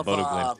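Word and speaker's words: Bodø Glimt: Yeah, Bodo Glint.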